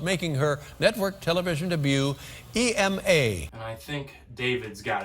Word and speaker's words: EMA: Every way you see it stylized tells your brain that it would be pronounced Emma, but I'm going off of how David Letterman said it.